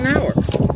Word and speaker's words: Knauer: Knauer. Mr. All right. The Philadelphia Knauers don't pronounce the K, and the country Knauers do.